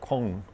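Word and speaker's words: Caen: I pronounce it Cane, but they pronounce it with a grunt, so it comes out like Kung.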